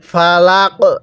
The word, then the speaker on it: ফালাক: বলুন কুল আউজুবি রব্বিল ফালাক হ্যাঁ আরেকবার আমার সাথে বলুন কুল আউজুবি রব্বিল ফালাকটা উচ্চারণের সময় গলার মধ্যে হালকা ধাক্কা দিয়ে পড়বেন কারণ কফটা হলো কলকলার তাহলে কিভাবে পড়বো আউজুবিল এরকম